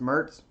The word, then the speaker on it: Mirtz: it's pronounced Mertz yeah it's just a nickname nickname yeah it's